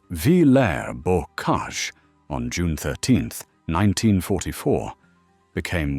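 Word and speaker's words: Villers-Bocage: The village of Villa's Boage, pronounced Vair Borage on June 13th, 1944,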